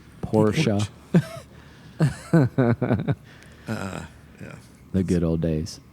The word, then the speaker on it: Porsche: We used to have little stickers that said, Porsche is a 2-syllable word.